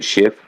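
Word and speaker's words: Schiff: how to pronounce it it's s-c-h-i-f-f like shift oh that's with that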